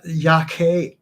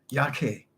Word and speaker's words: Yaqui: And right, that's not the pronunciation, Carlos. I'm going to back up a wee bit. Where was it? So it's the Yaqui Indians. Thank you very much. Yaqui.